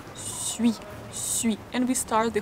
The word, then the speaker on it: suis: very quickly to I, suis, suis, and we start the whole word here. Suis, je suis, je suis, je suis, suis, suis, ui is pronounced very quickly.